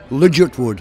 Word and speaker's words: Ligertwood: Ligertwood. Ligertwood, you know, I've heard it pronounced about 6 different ways.